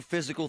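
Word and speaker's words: Fyzical: You want a new physical therapy experience? You want a treatment plan centered on you? Monroeville Physical, spelled F-Y-Z-I-C-A-L, is spelled different, because they are different.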